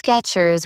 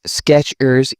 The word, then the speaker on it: Skechers: Some pronounce Skechers with stress on the ERs. It's Skechers evenly balanced.